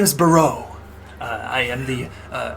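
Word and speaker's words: Boreau: My name is Bau.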